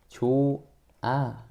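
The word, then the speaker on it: 좋아: 이거 어떻게 된다고? 발음이 조아. 이렇게 되는데요. 표기 어떻게 해? 얘는 조아라고 표기하죠. 그죠? 그러니깐 중요한 거 뭐야?이 리을 탈락과 다르게 히 탈락은요. 반영하지 않습니다. 발음을 표기에다가 반영하지 않습니다.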